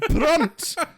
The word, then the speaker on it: Brunt: wrong pronunciation I've heard it's brunt like taking the brunt of a hit there that's the best